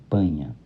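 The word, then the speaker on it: paññā: Observe que panha se escreve como p A N n a. Pronuncia-se panha.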